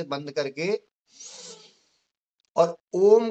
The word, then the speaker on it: ओम: ओ बोलेंगे, ओम ओम 3 शब्दों से मिलकर बना होता है, आ, उ और म।